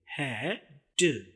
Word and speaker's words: head: तो देखिए उर्दू में है ड, और इंग्लिश में H और A से बनने वाली आवाज है और दूसरी आवाज डी की, ड। हैड। यहाँ पर ई की कोई आवाज नहीं है।